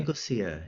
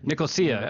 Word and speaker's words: Nicosia: at the University of Nicosia? Did I say that right? Is Yeah. that how you pronounce it? Nicosia. Nicosia. Oh, it's actually Yeah. pronounced like it's spelled.